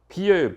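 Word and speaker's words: 否: 비예요. 비. 저걸 부라고 읽으시면 안 돼요. 부라는 건 가부를 얘기할 때 부지만 저거는 막혔다는 뜻이에요.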